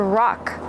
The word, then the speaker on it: rock: To rock. I'm rocking in the rocking chair. And how do you pronounce it? Rock. Use the short ah, like hot and stop.